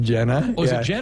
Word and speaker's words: Gina: so a long season Gina Jorgensen tell me about this young freshman yeah yeah it actually looks like Gina but you pronounce it Jenna yeah yeah it's Genevieve